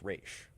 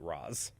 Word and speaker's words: Ra's: But the thing is, though, people agree on that it's Raish, yeah, because the Dark Knight is the only one that pronounces it Roz, yeah.